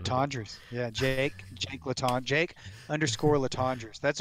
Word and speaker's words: Latendresse: So if you want to check that out, you can see that photo at Jake Landreth. Ah, man, Latendresse.